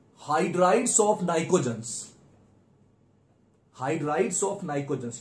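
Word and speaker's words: pnictogens: वो कहेंगे arrange the order of thermal stability of the hydrides of नाइकोजेंस। Hydrides of नाइकोजेंस, ये नाइकोजन family है। Group 15 को नाइकोजेंस कहते हैं। पी साइलेंट है, पी से स्टार्ट होता है।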